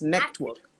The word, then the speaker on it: Nectwork: It's network. Network, right? Because it's actually such a different name to pronounce.